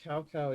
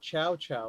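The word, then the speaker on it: Cao Cao: Now I have to know was cowcow even pronounced properly in game dao. Oh, it wasn't. It's south a w. Ah, so it's not chow chow like the game made it sound like.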